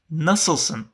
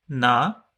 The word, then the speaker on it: nasılsın: As the letter doesn't exist in most of the languages, it might be difficult to pronounce for some listeners. So let's repeat one more time. Nasılsın? Na-sil-sın.